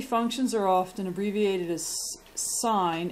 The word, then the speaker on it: sine: are often abbreviated as sine s i n cosine and tangent even though this looks like sin it's pronounced sine we're going to go